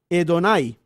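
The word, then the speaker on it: Adonai: es ado nay pero la forma como se debería pronunciar es hedonai y es numerosa la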